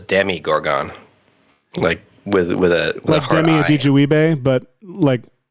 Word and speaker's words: Demogorgon: It's Demi Gorgon. That's how it's pronounced.